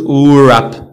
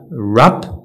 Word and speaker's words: wrap: هذه اخر category عندنا w is not pronounced at the beginning of a word followed by an r هذه معروفه w ما